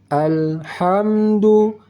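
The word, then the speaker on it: الحمد: kita baca ada keluar angin halus dari tengah kerongkongan ha hi hu Bah ha hi hu Bah jelas alhamdu alhamdu sedikit jika memang kita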